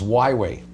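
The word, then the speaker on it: Huawei: mode right I think it's pronounced Y way y way yeah it's like not if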